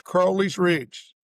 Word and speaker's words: Crowley's Ridge: It's Crowley's Ridge.